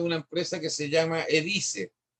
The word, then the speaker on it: Edyce: Vean una página de una empresa que se llama Edice. Se escribe EDYCE. Edice.cl.